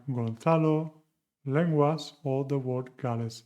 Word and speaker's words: Gonzalo: And the last one, la última, 9. Gonzalo, suena como Gales.